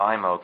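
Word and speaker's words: Eyemo: And so I rented a 35mm IMO camera, that's spelled E-Y-E-M-O, which is a spring-wound camera, produces a professional picture.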